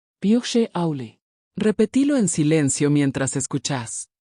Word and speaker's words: Bíodh Sé Amhlaidh: Pronunciación Phe Auli.